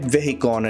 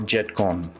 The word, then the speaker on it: Vehicon: the comments for this it's supposed to be Jet vehicon and not jetcon but I don't understand why should it be jet vehicon it should be jet